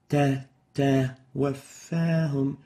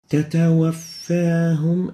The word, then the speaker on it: تتوفاهم: But this is wrong. The right way of pronouncing it is like this. تتوفاهم and not تتوفاهم. So you need to avoid exaggerated whispering during haraka state for the ta.